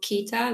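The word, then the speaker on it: Qiita: hash note-ish um things in Japan it's called Kita like q i i t a that's how it's spelled and in there like um you can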